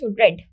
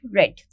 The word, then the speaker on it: read: the word I pronounced readed just because the third form of read remains read that is re E A the spelling remains same but the pronunciation changes it is read read